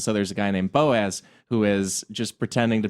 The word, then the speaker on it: Boaz: I'm gonna say Boaz. Rhymes with topaz.